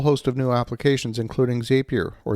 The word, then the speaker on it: Zapier: They introduced integration with a whole host of new applications, including Zapier, or Zapier, depending how you like to pronounce it.